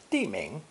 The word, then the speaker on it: 地: Our next character is an ideogram depicting the ground stretching out before us, pronounced fourth tone, 地, 地.